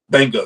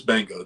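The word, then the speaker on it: Gbenga: Banga. That's what it is. Banga. The G is silent.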